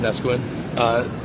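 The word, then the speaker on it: Neskowin: And it is pronounced Nesquin.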